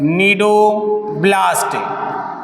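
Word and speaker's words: cnidoblast: बात कर रहे हैं नीडो ब्लास्ट कौन सी कोशिका होती है इसमें सी साइलेंट होता है नीडो ब्लास्ट सेल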